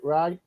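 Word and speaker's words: Rai: 5 which is the first full appearance of Ry do is that how you pronounce it Ry yeah yeah um um and then of course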